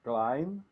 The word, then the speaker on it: climb: his own yeah but you don't need to to uh pronounce age letter b so it's climb like his wife's his